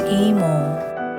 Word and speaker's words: 이모: the south of korea in korea auntie is pronounced as emo and it is open using middle-aged human as